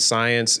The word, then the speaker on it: Siyanse: birthed the third company which is science and science is spelled s-i-y-a-n-s-e it's birth from the carawanda language